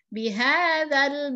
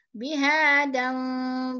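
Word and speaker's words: بهذا: dua harokat martobi Iya bihadzal balade sini ada Al Balad Al Balad Al di sini kita bacanya yaitu secara jelas Ya jelas tidak bihadal balado tapi bihadzal bihadzal Alya bihadzal balade dial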